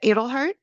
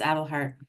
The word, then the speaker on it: Edelhart: Edelhart. Here, it's Adelhart.